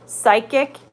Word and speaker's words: psychic: president is he's the a has no sound psychic and psycho is how you say psychic and